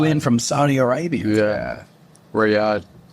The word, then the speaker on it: Riyadh: How do you pronounce that? He flew in from Saudi Arabia. Yeah. Riyadh.